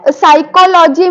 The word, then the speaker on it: psychology: an example like phys psychology wait sir so psychology means here P from starting the p is coming here while pronouncing we tell it as a physcology why